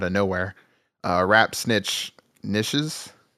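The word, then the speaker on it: Knishes: nowhere uh rap snitch nishes I I believe you say that K I think the K is silent there's a K in front of it uh which features Mr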